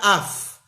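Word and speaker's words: אף: El Rebbe durante esta sijá habló mucho de una palabra en hebreo, la palabra af. Af se escribe con alef y con fei.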